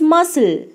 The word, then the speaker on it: muscle: Example, first word, it's muscle. Look at this word carefully. What silent letter is missing here? Yes, it's letter C. Letter C is missing there. So the answer is M-U-S-C-L-E, muscle.